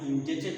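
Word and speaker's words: indebted: हमने बताया था इसमें बी इज साइलेंट, जैसे डाउट ब साइलेंट है. इंडेट आई एम इंडेटेड टू यू.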